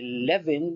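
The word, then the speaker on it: Lewin: sila sa US si levin naman ah kasi nw ay pronounce as V sa sa sa Germany Sa German language he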